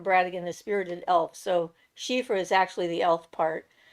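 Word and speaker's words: Síofra: the whole name together sheifer bradigan is Spirited elf so sheifer is actually the elf part anything with an SI that's pronounced she is going to be related to the she the S DH uh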